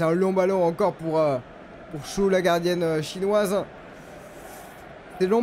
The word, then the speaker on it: Xu: Alors ça s'écrit XU. Et j'ai appris que ça vous disait Chou.